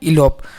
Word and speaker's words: elope: ठीक ना दोस्तों, तो देखिए इसका प्रोनाउंसिएशन किस तरह से होता है, इलोप।